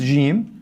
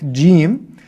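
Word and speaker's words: جيم: The proper fusa Arabic gimm has a d sound at the beginning of it. Right? It has a d sound at the beginning. It's just part of the gimm gimm gimm is that sound. Right? Without it, you're not saying the letter correctly.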